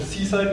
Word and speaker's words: CSIDH: So first of all, you should remember to pronounce the C side because it's much nicer than CSIDH, which sounds not very cool.